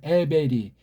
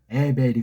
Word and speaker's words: 에베르: 에베리 그렇게 발음했어야 돼요. 에베리. 근데 벌써 여기에에 벨자로 엉터리로 음역을 해 놨잖아요. 엉터리 음역이에요. 라메드 L 사운드가 아니고 레이슈 R 사운드라니깐요.